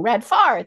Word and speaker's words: Radfar: so please join me in welcoming to our program today welcome home and how are you and I said your last name wrong red far there we go it's all good it's all